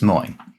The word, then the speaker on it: Moine: Is moine. Um stress on the second syllable, not the first syllable.